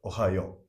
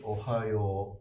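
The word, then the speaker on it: おはよう: Yo should have two morals. It's not Ohayo. Okay. It's Ohayo. Yo. Okay. Sometimes in alphabet, this is not written. So many people, if you just read alphabet, you may pronounce it as Ohayo. Yeah, true. But that doesn't sound natural. Yeah. It should be Ohayo.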